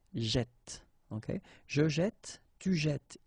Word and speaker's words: jette: And by putting two t like that, then it will open the sound of this e, so you will get jette, okay?